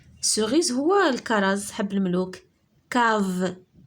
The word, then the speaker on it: cave: Cave K شتي C avec A se prononce K.